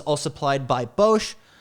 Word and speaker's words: Bosch: First of all, it's a spec system, so it's all supplied by Bosch. Bosch, am I pronouncing that right?